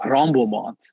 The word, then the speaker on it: Tremblements: So the key is the T is silent. So it's Los Tremblements.